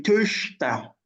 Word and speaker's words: Töchter: Ihre Töchter. Ihre Tochter. Yeah. So this forget what pronunciation.